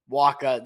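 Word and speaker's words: Wacha: walking too many guys Wakka that's that's how we pronounce it in Boston at least but look at his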